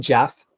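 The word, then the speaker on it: Geoff: from GF John's I it's probably said Jeff this is a me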